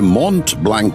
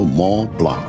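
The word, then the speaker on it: Mont Blanc: তবে মন্ট ব্ল্যাংক নয় লালমোহন বাবু। এখন ইউরোপে এসেছেন এখানকার দ্রষ্টব্যগুলোর নামের উচ্চারণ ঠিক করে করতে শিখুন। ওটা হল মলা।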